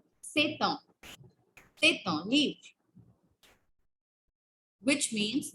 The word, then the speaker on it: c'est un: It's say, then T and U is pronounced together. So it becomes c'est un. C'est un.